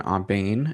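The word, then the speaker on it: Aubain: My name is Aane and my interpreter ID is YM288. My last name is spelled A Wait a minute.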